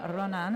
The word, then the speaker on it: Ronin: pinky do you know how that team is pronounced um 15 Ronin so oh my God I almost did it